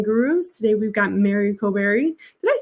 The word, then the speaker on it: Koburi: Koburi, like a burr.